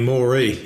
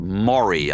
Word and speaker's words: Moree: It's a town called Moree, I think you pronounce it, Moree.